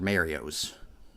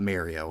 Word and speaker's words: Mario: play some pac-man's or Mario's and just for the record I do pronounce it Mario not marry oh I know some people do that and they're wrong yeah looks like we're